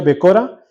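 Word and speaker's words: בכורה: Pero aquí la primogenitura, en el original, en el hebreo del 1060, donde se pronuncia Becora, quiere decir derecho, primicia, primogénito, primogenitura.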